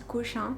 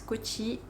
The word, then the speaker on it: Kochi: Alors plus exactement, on est à Kochi. On dit aussi Cochin, enfin ça s'écrit aussi Cochin. Mais ici ils disent Kochi.